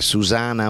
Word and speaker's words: Susanna: a caso la canzone Susanna che si scrive con due N Ma si pronuncia con mi piace a Susana mon amour e no